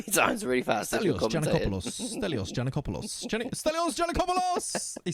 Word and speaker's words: Giannakopoulos: Giannakopoulos. Giannakopoulos.